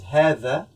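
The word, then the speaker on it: هذا: the first one is Heather Heather Heather here the dam is pronounced like the th in English in the air like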